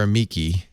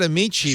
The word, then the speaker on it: amici: I said amici because that's the Italian or the church Latin pronunciation, but I think actually it's probably amici.